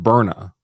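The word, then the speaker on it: Byrna: so there's a company I think it's pronounced Berna b-y-r-n-a I think is the company I did a whole show on Burna by the way and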